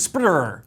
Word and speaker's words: SP//dr: It's hard to pronounce because it's Can spelled you spell that? SP//DR, and the DR is in lowercase. So this is Spider. And he is effectively a Spider-Man robot.